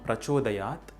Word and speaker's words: Prachodayat: Finally, the beginning of the sound Prachodayat can have a slight utterance of Fa sound because of the expulsion of air due to the Visarga before it, like Dhiyo Yo Nah Prachodayat. If there is a gap between Naha and Prachodayat while uttering the mantra, the Fa sound will be absent.